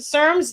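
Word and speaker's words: CERMES: Adrien Kashman and he's a former SERMS they pronounce it SERMS director C Res director Dr.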